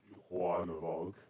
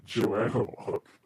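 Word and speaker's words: Joan of Arc: There's a good chance that Juan of Arc was a schizophrenic. Okay, probably should pronounce her name like that. Joanne of Arc.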